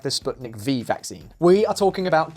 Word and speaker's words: Sputnik V: Do you remember the Russian vaccine against the coronavirus, the famous Sputnik V? (((PRONOUNCE THE "V" AS "VEE")))) On paper, the vaccine worked.